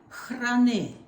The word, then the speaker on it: храни: Нам Україну храни. Нам Україну, no, not you. Нам Україну храни. Храни. The KH is like sometimes it's transliterated with a CH, but I think KH is closer to it.